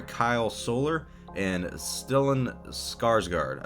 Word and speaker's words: Skarsgård: Soler and still in skarsgård I believe is how you say it I'm sorry if